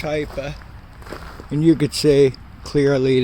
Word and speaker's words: Hipa: what's going on there I always pronounce it hea but it's hyper and you could see